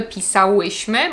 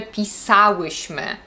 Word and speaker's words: pisałyśmy: i trudno to zidentyfikować akcent na trzeciej sylabie od końca Pamiętajcie też żeby stawiać w takich przypadkach kiedy macie czas przeszły w osobach My i Wy nie mówimy pisałyśmy mówimy pisałyśmy Czytaliście i tak samo